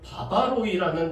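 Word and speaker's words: βάρβαροι: 여러분이 원주민이 단어는 헬라어로는 바바로이라는 단어를 사용합니다 이 바바로이는이 헬라어를 하지 않는이 이방인들을 가리키는 것이 바바로 이죠 발음을 들어 보면은 바바바바 하는 것처럼 들리기 때문에 바바로이라고 이렇게 읽었습니다 그런데이 바바로인 헬라인들은 수준이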